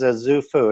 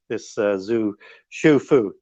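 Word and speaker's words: Xu Fu: And so he never comes back, this Zhu Fu. People looking for spelling on that, look at XU. And so it's pronounced Shufu, as if I've got that right.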